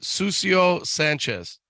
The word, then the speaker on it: Cusio Sanchez: So you pronounce it Cusio Sanchez.